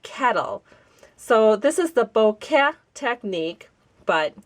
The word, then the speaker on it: bokeh: C is like kettle so this is the Boke technique but it's kind of easy to say bouquet technique which is how I've heard many people pronounce it or the boka technique which is also a popular way to